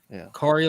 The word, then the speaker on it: Kari: It's Kari like Atari Andrews.